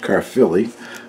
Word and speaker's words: Caerphilly: see the spelling there but evidently it is pronounced Caerphilly which is a town in Wales where the